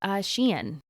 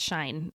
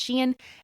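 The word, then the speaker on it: Shein: Forefront in the last couple years and it's Shen you might think it's shine um It's s he i n it's pronounced Shen and it is one of the newest and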